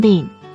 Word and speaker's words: 玢: 细妹子，这个字可以念分，还可以念病，是一个多音字，一般情况念分，你回去